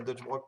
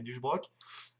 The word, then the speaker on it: Duchbrock: J'ai pu rencontrer enfin Duchbrock, puisque ça se prononce pas Dutchbrock, mais Duchbrock, et plein d'autres gars